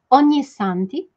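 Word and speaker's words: Ognissanti: vocês florzinhas novamente responsar comigo vamos fazer a pronúncia onissanti E aí você me fala se é fácil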